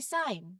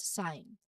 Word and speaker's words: sign: And finally, sign. This is a very common one. The G is silent and it's just sign.